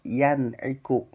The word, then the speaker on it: yan'iku: Ya, jadi berarti membacanya itu jelas yan, bukan yang atau yang lain. Jadi nun sukunnya dibaca ya yan'iku.